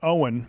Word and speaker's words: Eoin: So, I mean, my friend is Owen, but it's spelled the Gaelic way, Eoin.